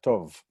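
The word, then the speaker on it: טוב: And remember, this is a silent vav now. I mean, it's silent. It was there to tell me there's a vowel, but now I can even tell you which vowel it is. To and the, not the b, but the v, tov.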